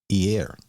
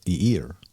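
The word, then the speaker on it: עיר: Now, the word city in Hebrew is Ir, or Eir. Kind of depends on where you're from, how do you pronounce it.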